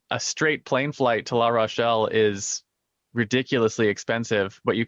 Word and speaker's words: La Rochelle: has their factories in la roche i believe la rochelle la rochelle there we go beautiful town just a little